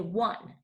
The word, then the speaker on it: one: not say oh oh we do not say that we say one so our screech word